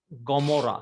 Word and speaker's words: Gomorrah: Gomorrah. So Ain sometimes behaves as it gives a G sound, Gomorrah.